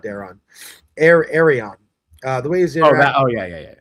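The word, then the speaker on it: Aerion: Arion. The way he's interacting. Yeah. Yeah. When Arion is like, oh, we'll do a trial by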